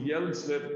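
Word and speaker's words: Hjelmslev: by the way the fact that i'm pronouncing yellowstone that is not uh to uh in um honor of italy which thinks that the age shouldn't exist in danish you don't pronounce the h right so in this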